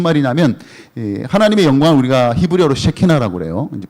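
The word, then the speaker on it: שכינה: 무슨 말이냐면, 하나님의 영광을 우리가 히브리어로 쉐키나라고 그래요. 이제 발음을 좀 주의하셔야 되는데, 영광을 쉐키나라고 하는데, 이 쉐키나 하나님의 영광을 사람에 비유를 합니다.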